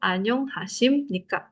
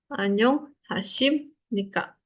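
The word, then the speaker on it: 안녕하십니까: Tulisannya B tapi bacanya sim. Ya. SIM M. SIM. Kenapa? Ee kalau si B ini B-nya ada di bawah ketemu lanjutannya N bacanya jadi B-nya jadi M. Tulisnya betul B tapi bacanya jadi M.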